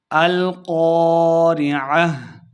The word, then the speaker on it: القارعة: کی 11 آیات ہیں۔ القاریہ، قاف کو موٹا پڑھنا ہے، عین کو تلفظ سے پڑھنا ہے اور آخر پہ ہم نے وقف کرنا ہے، ہا کی آواز آئے گی۔ القاریہ، ملقاریہ، قاف کو